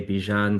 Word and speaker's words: Bijan: You can say Bijan, similar to Dijon.